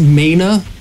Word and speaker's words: mana: It's pronounced mana. It's how much mana you have. Magic? No, it's mana. M-A-N-A.